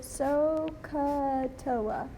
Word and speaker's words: SOHCAHTOA: this, but you can remember SOHKAHTOA, and they pronounce this SOHCAHTOA. So if you can remember SOHCAHTOA, then you can remember that sine is equal